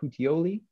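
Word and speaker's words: Puteoli: two days later they end up in uh putioli that's how you pronounce that um which is about um halfway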